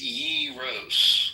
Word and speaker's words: gyros: And we proned that it's yros.